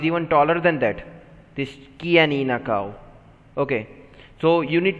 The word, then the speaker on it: Chianina: So this is pronounced as Chianina. This is a type of cow, Chianina.